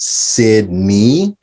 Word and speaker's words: Sidney: It's actually pronounced Sidney. I know a lot of people think the N-E-Y is silent, but it's actually Sidney.